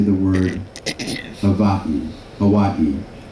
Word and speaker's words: Hawaii: Hawaii. So the I is pronounced as an E.